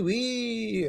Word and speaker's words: oui: Oui, whoa, whoa, whoa, whoa, oui, oui, oui. I was like, what? And then you say oui, right? And it's spelled O-U-I. How do you get oui out of O-U-I?